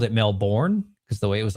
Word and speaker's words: Melbourne: I was talking positive about Australia, but I mispronounced this town. It was called uh I think it's called Melbourne, but I called it Melbourne because the way it was like spelt.